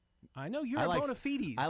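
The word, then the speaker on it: bona fides: in the the Miriam Webster dictionary, the preferred pronunciation of this word in the English language, I know it's not English, but is bonafides. I know you're bonafites.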